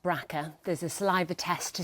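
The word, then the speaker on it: BRCA: The gene is known as JB RCA, pronounced Bracka.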